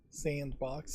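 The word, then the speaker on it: s&box: Sandbox is how you're supposed to pronounce that.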